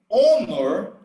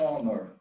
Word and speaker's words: honor: age and the age in certain words it's silent it's not pronounced so honor we don't say ah it's an honor an hour an hour